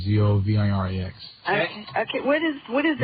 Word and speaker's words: Zovirax: Okay, and the poor man likes to call it Zovrax, which is the trade name, Zovirax.